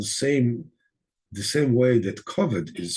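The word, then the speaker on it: כבד: Koved is the same word as it's spelled the same way that koved is spelled, but without the vav. It's koved. It's not kovoid, but koved.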